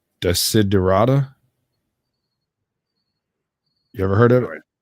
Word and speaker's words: Desiderata: And I always say the name wrong, but it's Desiderata.